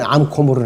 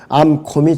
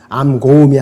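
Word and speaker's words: 암곰: 들짐승들이 그들을 찌질이라 그랬습니다 발음하는 것은 암콤이 정상이에요 표준 발음이 이것이 암 고음이 아니라 암콤으로 바로 보는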